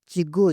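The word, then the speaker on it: cikgu: চিগু চিগু মানে শিক্ষক কে টাকে কি হালকা করে উচ্চারণ করা হয় আপনি দেখবেন যত শব্দ আছে আছে কে অক্ষরটাকে কি মালয়েশিয়া নাকি হালকাভাবে উচ্চারণ করে চিগ্গ চিগ্গ মানে কি শিক্ষক চিগ্গ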